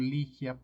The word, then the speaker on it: Ligia: Vamos con el folleto misionero, el testimonio de Albert y Ligia, que decimos Ligia para poderla pronunciar bien.